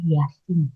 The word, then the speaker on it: Jasin: Tulisannya Jasin, tapi kayaknya bacanya Yasin sih ya, kalau nggak salah.